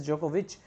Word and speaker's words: Djokovic: djokovic has novak djokovic you can say the pronunciation is jokovic has won it so